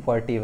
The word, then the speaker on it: furtive: फ्रूटी नहीं है, FURTIVE, फर्टिव है, ओके। जो भी इसको प्रोनाउंस करना, इसको मैं प्रोनाउंसिएशन देखा नहीं है,